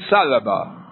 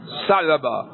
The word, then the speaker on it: ثعلبہ: اس قبیلہ کے تھے۔ ایک شخص دمام بن ثعلبہ، دمام بن ثعلبہ، صاد غاد، ثعلبہ باتا ثا، بنو سعد بن بکر